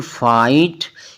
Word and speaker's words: fight: GHT हो तो इसमें G और H जो दोनों हैं वो साइलेंट रहते हैं।